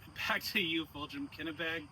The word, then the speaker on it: Kennebec: Kennebec? Kennebec. Kennebec, okay. See, I'm glad that we have you pronouncing these names, because I would say something